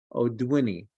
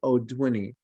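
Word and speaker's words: audouinii: microsform and that's microsporum oduwini okay that's pronounced oduini it's the most important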